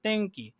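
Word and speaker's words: 天気: তেংকি তেংকি তেংকি। তাহলে নরমালি তেনকি হবে না, তেংকি।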